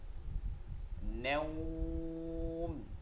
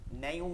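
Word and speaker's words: نوم: নাওম, নাইউম না, কি হবে? নাও নাও, নুন ওয়াজব নাও, এরপর টান হবে, এটাই শুধু নাওম নাওম।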